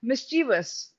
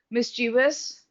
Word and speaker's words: mischievous: Now, here, dear students, some of the students I have seen, they have a tendency to pronounce it like mischievous. It's not like that because the correct spelling is mischievous, right?